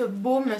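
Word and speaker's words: Bohm: Et j'ai une autre paire de boucles d'oreilles de la marque Baume, ça s'écrit B-O-H-M.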